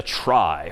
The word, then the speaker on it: trie: this one pictorially for the most part and that's known as a try which is somehow short for retrieval even though that's pronounced somewhat differently but try just means it's a data structure for retrieving data.